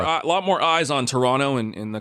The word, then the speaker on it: Toronto: all the Americans say Toronto which is how it's spelled so I understand that but if you're from there you get rid of that t Toronto got I got I